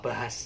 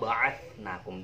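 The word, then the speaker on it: بعثناكم: Tapi jangan bacanya itu tsumma bahas ya, tapi tsumma ba'atsnakum dengan tha. Tha, bukan sa, tapi tha.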